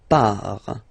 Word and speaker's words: pars: So the first form is je pars. So final S not pronounced, je pars.